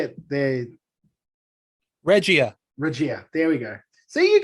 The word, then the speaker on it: Regia: Regia.